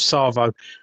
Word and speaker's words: Tsavo: Um so, and it's spelled with a T, but the T silent. Yeah, the maneaters of Tsavo.